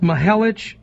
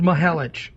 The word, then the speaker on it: Mihelich: It is pronounced Mihelich. I am 100% correct. So, Barb, there you go. It is Mihelich.